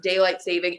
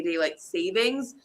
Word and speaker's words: daylight saving: the middle, 30 minutes, daylight saving." And he told me today, "I've been saying it wrong my entire life. I always say daylight savings." No s. Daylight saving. Yep. You're saving daylight. No s.